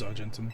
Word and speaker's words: Argentum: How do you say his name? Argentum. Argentum. It was Argentum. I just said it very badly.